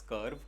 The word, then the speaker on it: Curvv: YouTube चला के YouTube में ही एक दूसरा वीडियो भी सर्च कर लेना इस वीडियो के अलावा, Tata Motors कर्व, बट the spelling is CURVV.